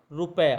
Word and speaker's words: रुपया: है रुपया है है तो यहां भी ध्यान देना है रोक के साथ छोटे उसका उच्चारण हो रहा है तो यहां पर आप लोग जब शब्द लिखोगे तो मात्रा छोटे उनकी लगानी है ना कि बढ़ेगी रुपये इस प्रकार कि